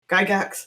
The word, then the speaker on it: Gygax: feel free to share it in the Gary Gygax. I hope I'm pronouncing that right. Gygax. Gygax.